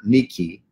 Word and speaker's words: Nike: victory of the people like in nikki nike shoes mispronounced uh as nike from the word nikki and laos which means